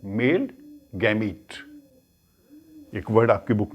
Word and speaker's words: gametes: और पोलन के अंदर जो सेल्स होते हैं वो होते हैं मेल गैमीट। एक वर्ड आपकी बुक में लिखा है, उसको प्रोनाउंस करते हैं गैमीट, GAMETES, मेल गैमीट।